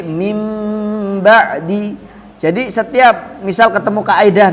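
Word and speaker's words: مِن بَعْدِ: Jadi bunyinya tadi, bunyinya nun sukun atau tanwin itu diganti bunyi mim sukun. Bacanya bukan min ba'di tapi mim ba'di.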